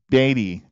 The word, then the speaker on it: Beatty: Now you said it wrong. It's Beatty.